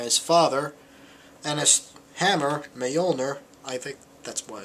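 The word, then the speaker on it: Mjölnir: And his recklessness got him kicked out of Asgard by his father, and his hammer, Mjolnir, I think that's what it's pronounced, has been banished to Earth as well.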